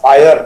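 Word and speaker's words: FHIR: WHO का standard है, FIHR, फायर उसको प्रोनाउंस करते हैं, फास्ट इंटरऑपरेबल हेल्थ रिसोर्सेज, उसकी रिलीज 4 है, उसके मुताबिक ये सर्टिफिकेट बनाया गया है।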